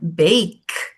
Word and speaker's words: bake: Então, você não pronuncia a vogal formando uma sílaba. Você acaba no som da consoante. A gente viu house. Olha a outra palavra, bake.